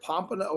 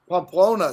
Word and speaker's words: Pamplona: Is that Pompano? How do you say that? Is it with a P? Yes. It's That's not with Pompano. Am I saying it right? Close. Pamplona, somebody wrote.